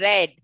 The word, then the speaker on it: read: But the pronunciation in the past tense goes for READ, red. So it is, sorry, pronunciation goes for red, though the spelling remains the same. Though the spelling remains the same, the pronunciation goes to be different.